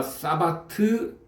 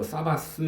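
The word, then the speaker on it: שבת: 영어 발음으로 하면은 뭐 사바스 뭐 이 정도로 발음을 해야 되는데요. 그냥 히브리어는 사바트입니다.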